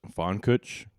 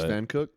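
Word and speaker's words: Pfankuch: And so I thought it was Fonuch, you know, I thought it was like German or something.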